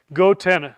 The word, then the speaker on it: goTenna: Gotenna. And the way you spell it is go t n a go g go go goenna.